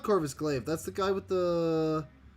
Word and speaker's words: Corvus Glaive: I said it right. It's Corvus Glaive. No, it's not Corvus Glaive.